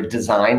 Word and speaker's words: design: sense to me remember design is d-e-s-i-g-n i know that g is silent and that's annoying english